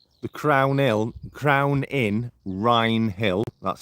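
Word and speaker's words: Wrinehill: you just Google the crown ill Crown in Rin Hill that's spelled w r i n e h i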